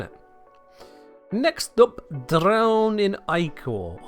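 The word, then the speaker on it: Ichor: Next up, drown in Iicor or Ika if that's how you like to pronounce it. I feel like it's supposed to be pronounced Iicor, but that's how I was taught.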